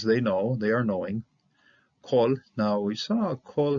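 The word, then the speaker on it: כָּל: and its closed syllable, it is pronounced O. Just simply, the reality of the whole matter is that kol is going to be used with an O sound almost all the time.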